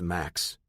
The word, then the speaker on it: MMax: You know, his name is pronounced Max. It's like a man's name.